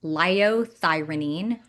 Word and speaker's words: liothyronine: And that is called liothyronine.